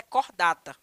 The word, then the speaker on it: Chordata: então o subfilo Aliás o filo cordata ele se escreve em latim como chordata tá mas a pronúncia é cordata OK então ele é